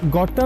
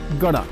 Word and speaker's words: gotta: এখানে গটা শব্দটি ডাবল টি দিয়ে লেখা হলেও উচ্চারণের সময় ডি এর মতো উচ্চারিত হয়, অর্থাৎ এটির উচ্চারণ গট্টা না হয়ে হয় গড়া।